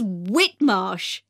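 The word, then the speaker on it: Whitmarsh: us outside the shop the shop's name is whitmosh now do you want to write that down i'll spell it for you that's w h i t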